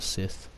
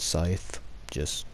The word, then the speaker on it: scythe: spookiness of having a Sith. And yes, I actually know it's pronounced Scythe. I was just saying it incorrectly just cause.